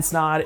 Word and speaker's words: Snod: My name is Snod, it rhymes with odd, and I'm out.